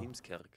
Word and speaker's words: Heemskerk: Wie spricht man die aus? Heemskerk? Heemskerk. Heemskerk. Genau. Heemskerk.